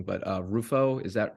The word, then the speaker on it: Rufo: You talked about, and I might be pronouncing his name wrong, but Rufo, is that correct?